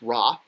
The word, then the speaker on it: Ra: here so so here we have the sundisk pronounced raw and here we have the jug with a